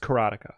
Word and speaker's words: Karateka: it's the game called karateca carotica carotica It's pronounced carotica carotica okay and then okay okay I understand